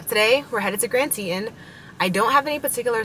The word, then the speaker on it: Teton: today and so our Tetons actually how you say it's not Tian it's Grand Teton today and so we might